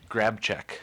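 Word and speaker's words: Grabczyk: name yeah mm what is your last name grab check uhhuh and I can spell that you can G r a b c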